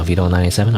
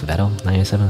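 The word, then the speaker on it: Vedal987: like Vito, you know, Vito97, or I guess Veto97 is how you're supposed to pronounce it, which is the owner of like the Norosama AI streamer, you know, VTuber thing.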